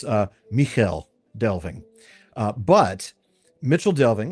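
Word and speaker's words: Michel Delving: or to hear miclving but it is it is Mitchell delving. So, I'm not going to I'm not going to Oh, you're not a real Tolken fan if you pronounce it Rick Delving.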